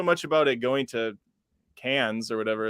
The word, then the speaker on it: Cannes: I don't know so much about it going to Cannes or whatever it's called. I always pronounced it Canes because I'm from Minnesota, so we always put harshness on our A's.